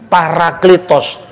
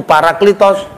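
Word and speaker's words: παράκλητος: lah bacanya para atau peri. Parakletos. Parakletos itu artinya pembela, penghibur, pengacara, pengantara. Makanya dalam bahasa Yunani modern pengacara, penasihat hukum itu Paraklitos.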